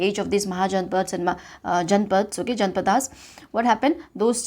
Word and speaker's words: Janapadas: So this age of this Mahajanpads and Janpads, okay, this word, or you can pronounce as Janapadas also, okay, it is same.